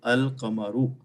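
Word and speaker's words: القمر: The letter Lam is pronounced, so the pronunciation is Al-Qamaru.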